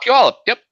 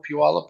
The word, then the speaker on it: Puyallup: I'm not even going to try to pronounce that. Oh, Puyallup. Yep. He's actually a little bit further south from me. Yep, I know Puyallup well.